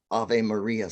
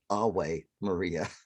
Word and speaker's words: Ave Maria: really the these and proper latin are uh pronounced wa you know like a w uh in catholic latin they pronounce the because it sounds prettier like ave maria sounds a lot prettier than away maria so so the etymology